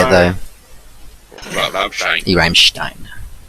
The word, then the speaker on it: Rammstein: Rammstein. Rammstein. Yeah, Stein. That's how you meant to pronounce it. Rammstein. Bits of roll the R and SH for the double S.